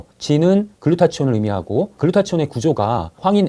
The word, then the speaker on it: 글루타치온: 꼭 필요한 성분이 바로 글루타치온 있니다네 글루타치온은 글루타티온 또는 글루타 사이언이라고 발음하기도 합니다 글루타치온이 중요한 항산화 물질이라고